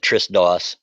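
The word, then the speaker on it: TRSDOS: do they call it I pronounce it Tris Doss TRS Doss oh yeah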